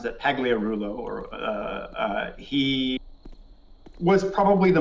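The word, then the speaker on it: Pagliarulo: the game yeah yeah yeah um emel he pronounces that pagliarullo or he was probably the most kind of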